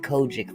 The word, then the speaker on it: COGIC: Um, COGIC is spelled C O G I C, Benjamin, and that's an acronym for Church of God in Christ. They just call it KOJIC for short.